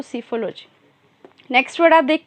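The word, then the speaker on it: psephology: है, सीफोलॉजी कहलाता है, जिसमें पी साइलेंट होगा तो सीफोलॉजी।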